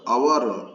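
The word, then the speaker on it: hour: In the word our, H-O-U-R, our, H is not pronounced. It begins with vowel sound. In the word our, H-O-U-R, our, honest, honorable, H is there, but H is silent.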